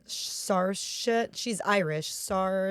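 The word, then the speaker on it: Saoirse: it right uh s sarit she's Irish SAR it's like s i is not a good it's like s i o r s e it's an Irish name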